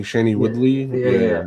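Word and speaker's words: Shailene Woodley: Uh Shellani Woodley, how do you say her name? Oh, Sheny Sheny Woodley.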